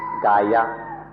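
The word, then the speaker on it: kāya: body or kaya hear it for entire be pronounced Gaia when we speak of the Gaia the Buddha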